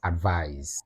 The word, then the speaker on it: advise: to listen to me that is advise that's a ver form so just like you say realize realize advise realize then let's come to the